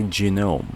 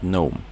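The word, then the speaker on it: GNOME: was like asking me why is it genome when you pronounce not gome because actually genome when they launched by ganu it was genome so it was like that ever since they emphasize the letter G so basically instead of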